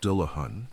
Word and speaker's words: Dullahan: This is the tale of the Dullahan, pronounced Dahan, a headless rider from the old countryside of Ireland.